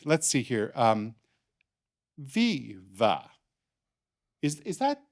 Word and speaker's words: Viva: Yes, Viva. It is a pleasure to meet you both. Yeah, Viva, like one word.